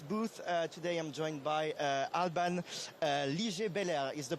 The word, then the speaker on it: Alban Liger-Belair: Today I'm joined by Alban Liger-Belair. Is the pronunciation correct?